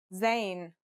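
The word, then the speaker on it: زاي: a DOT on top in terms of pronunciation you say just like the English Z as in zebra or al-jazeera practice saying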